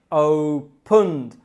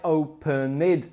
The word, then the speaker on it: opened: That's verbs like open or happen. I opened my laptop, and not I opened my laptop.